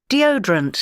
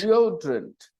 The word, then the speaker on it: deodorant: three vowel sounds now which vowel sound is the stressed vowel sound deodorant your ears are not trained to notice this stress so at first if